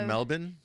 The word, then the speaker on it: Melbourne: hello Melbourne we have do you know it's pronounced Melbourne oh I found that